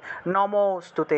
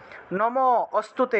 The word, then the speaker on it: নমোস্তুতে: তাহলে নমোস্তুতে, নমোস্তুতে এইভাবে। নম অস্তুতে এরকম আলাদা আলাদা উচ্চারণ করলে হবে না, একসাথে উচ্চারণ করতে হবে। নমোস্তুতে, কালরাত্রি নমোস্তুতে।